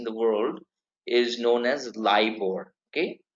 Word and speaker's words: LIBOR: liver I've heard liver so it's not lib or liver or any other television of that but it is LIBOR okay libor it so